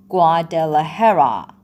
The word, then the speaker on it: Guadalajara: My husband and I live in Guadalajara. دقت بکنید Guadalajara. تلفظش به این صورته.